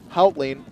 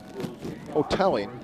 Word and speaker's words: Hoteling: Going to receive the kick here from Howling of Zeales. Going deep. Hoteling is the pronunciation.